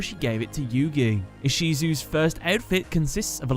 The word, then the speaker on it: Ishizu: as Isis ishar as isisu is the pronunciation of the name Isis in Japanese her name supposedly derives